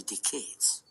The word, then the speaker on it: decade: his English is beautiful he did stress the wrong syllable a couple times like he said decayed cheese instead of decade but that's fine we